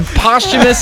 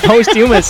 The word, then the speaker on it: posthumous: Posthumous. Well, they should it is change. morbid. My goodness. It is morbid. Posthumous. Jerry is hooked on phonics. You put the wrong emphasis on the wrong syllable there, Gerald.